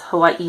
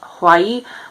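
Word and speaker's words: Hawaiʻi: when the audiobook person actually does pronounce hawaii right um most people don't they just call it hawaii which is incorrect because there's an apostrophe which is a glottal stop it's very common in polynesian languages but it's not so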